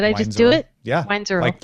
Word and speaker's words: Weinzierl: Weinzierl. Like you just said it.